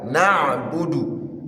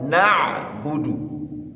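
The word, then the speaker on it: نَعْبُدُ: Uh iyaka na'budu. Ayn, not hamza.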